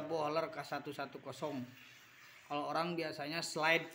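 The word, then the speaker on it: Böhler: lagi Hai masih tajam ini bacanya bukan Veer ya ini baja boler k110 kalau orang biasanya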